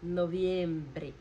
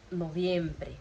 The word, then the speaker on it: noviembre: O V, ele tem esse sonzinho de B. Já expliquei também para vocês essa questão da B larga e da B curta. O que isso quer dizer? B larga é o B mesmo, som de B mais fechado. E a B curta é um sonzinho de B lá no fundo, que é o V, ok?